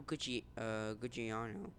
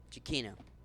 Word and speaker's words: Giacchino: So Michael Gucciano. I keep on doing this again. Giacchino. So Michael Giacchino.